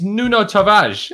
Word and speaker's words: Nuno Tavares: right tom why aren't you learning how to pronounce this correctly it's nuno tavage like i said it was he says it